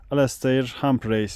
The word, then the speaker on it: Alastair Humphreys: Alestir Hump Race diye okunuyor zannedersem.